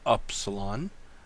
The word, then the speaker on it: upsilon: or a German ooh oops Elan you can pronounce it Upsilon the next letter is the fee notice the